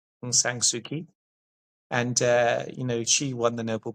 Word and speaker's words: Aung San Suu Kyi: It's Aung San Suu Kyi, and she won the Nobel Prize for peace.